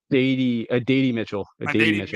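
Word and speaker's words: Adonai Mitchell: I asked you for the show how to pronounce his name. It's Adady Mitchell.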